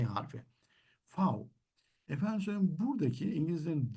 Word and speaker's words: V: Biz bu harfi gördüğümüzde V deriz ama Almanlar fav diyor.